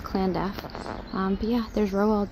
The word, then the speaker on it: Llandaff: I think it's pronounced Clandaff.